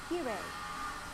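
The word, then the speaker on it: きれい: English native speakers often pronounce it like the R sound in English and say kirei.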